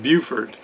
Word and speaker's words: Beaufort: chain just outside beaufort south carolina and it's pronounced beaufort there's a beaufort spelled exactly the same in